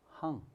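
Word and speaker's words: 行: 중항 이러면 이 글자를 이제 행하다 그러면 행으로 읽고, 이게 이제 행하다 이 글자가 실은 이렇게 생긴 글자거든요. 원래 글자가. 그러면 이것이 길이에요. 길. 혹은 줄. 이렇게 읽을 때는 항이라고 읽습니다. 항.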